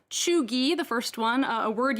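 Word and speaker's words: cheugy: front on the guardian today these words are pronounced chugi the first one a word used by generation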